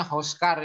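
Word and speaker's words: הָזְכַּר: Nah, kalau hofal, nah ini dibaca o ya. Jadinya hoskar ini.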